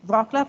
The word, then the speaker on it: Wrocław: Karolina is currently the head of the Digital Justice Center of the University of Wrocław, which is the right pronunciation, Wrocław in Poland.